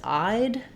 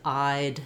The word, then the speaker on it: I'd: So if you think about I would, that's pronounced, that's contracted as I'd, and it sounds the same as I'd, as in she eyed the cookies.